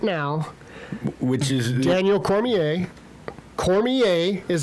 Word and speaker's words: Cormier: This card as as it sits right now, which is Daniel Cormier, Cormier is how you say his name.